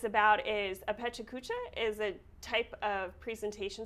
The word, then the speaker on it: Pecha Kucha: guys have a pet chew i don't know pecha kucha event yes you said it right yes what